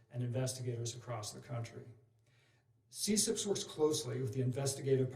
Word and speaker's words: CCIPS: The Computer Crime and Intellectual Property section, which is abbreviated CCIPS, and we pronounce it CSIPS, is a section within